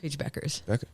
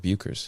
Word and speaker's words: Beckers: There is, but it's not how it's pronounced. It throws people off.